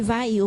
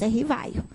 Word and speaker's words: Rivail: hepolite León Denizard Rivail muita gente fala que vai eu mas a pronúncia em francês R vai me lembra do Antonieta barini que nos Corrige a sempre então tem até a música que para rimar ficou Rivail né R Vaio tão grande mestre Vaio era